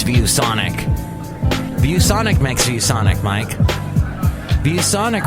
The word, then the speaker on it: ViewSonic: ViewSonic rhymes with bubonic.